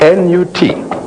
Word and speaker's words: Nut: And as a matter of fact, it's a chapel of Goddess Nut. How do you spell that? N-U-T. Pronounced Nut.